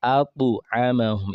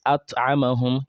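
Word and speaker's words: أطعمهم: So that's why we have atu amahum. It's not at amahum. You are now reading Surah Quraysh. Say alladhi at'amahum will tell you did not pronounce the ta properly, and obviously you did not apply the echo sound, the qalqala sound for ta.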